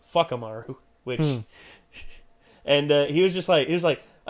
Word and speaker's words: Whakamaru: Anytime you hear a W it's pronounced with a fwa, like with the F, and a town of what would be Wakamaru is Fuckamaru, which, and he was